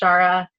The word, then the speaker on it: ShaR4: So I know it can seem confusing, but it is just pronounced Shara, and just trying to be different.